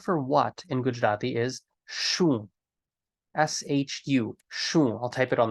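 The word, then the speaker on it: શું: both of them often you're going to hear Gujarati speakers pronounce them as a sa as in like an S sound uh the most common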